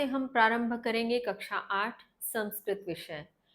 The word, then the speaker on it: संस्कृत: वे जानते हैं कि इसका उच्चारण संस्कृत उचित होता है जबकि संस्कृत गलत है। क्योंकि इसमें सम उपसर्ग होता है। सन उपसर्ग नहीं होता। इसलिए इस विषय के नाम का सही उच्चारण है संस्कृत।